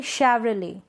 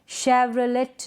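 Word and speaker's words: Chevrolet: ये क्या है, इसको हम पढ़ेंगे शेवरले, क्या पढ़ेंगे, शेवरले, शेवरलेट नहीं, शेवरले। विसल, विस्टल नहीं, विसल।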